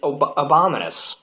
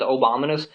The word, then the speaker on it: Abominus: the governor's name is abominus I keep wanting to say Obama's I went out the first time I actually mispronounced his name as obamanous somebody made the joke